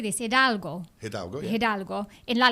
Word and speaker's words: Hidalgo: Hidalgo.